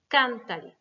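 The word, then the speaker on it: cántale: Donc, pour conserver l'accentuation sur can, il va falloir remettre un accent écrit. Cantale.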